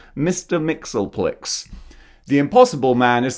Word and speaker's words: Mxyzptlk: Mxyzptlk, or I think that's how you pronounce his name, actually. I was going to correct myself, but no, I got that right. Mr. Mxyzptlk.